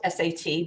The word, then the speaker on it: Sat: It's spelled S-A-T, but it's pronounced Sat, like S-O-T.